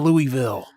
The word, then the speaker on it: Louisville: Is it called Louisville or Louisville? Whatever. It's Louisville. Yeah, I've heard people like, it's called Louisville, you fucking idiot. And I'm like, it's spelled Louisville.